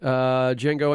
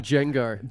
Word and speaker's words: Django: the trailer he says the D is silent he said did Django